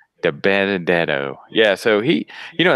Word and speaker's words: DiBenedetto: is great how do you say his name DiBenedetto DiBenedetto yeah so he you know that is a